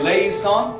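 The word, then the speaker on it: eleison: So that is, so it goes, Kyrie, le, e, son. Can we all say le, son?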